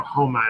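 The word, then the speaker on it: Houma: that might be right I know Homa is how you say the the main little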